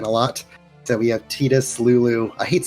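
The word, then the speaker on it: Tidus: lot so we have tetus Lulu I hate say I want to say Titus but it's tetus I hate tetus the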